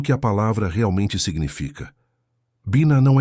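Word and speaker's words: בינה: A palavra é Biná. A pronúncia é Biná.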